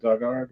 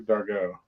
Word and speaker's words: Dargaud: Is it Dugard or Dargaud? Oh, Dargaud.